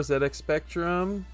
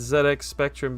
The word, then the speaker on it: ZX Spectrum: I say it's ZedX Spectrum because that's just how it's said. I uh I don't know. I used to listen I still listen to the Retro Warriors podcast and uh they used to get roasted for saying ZX Spectrum or maybe it